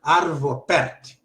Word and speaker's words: Arvo Pärt: Se escreve parte com trema no A, pronuncia-se como cat, gato em inglês. Arvo Pärt.